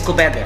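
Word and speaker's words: Koobideh: And how you pronounce this? It's kobeda.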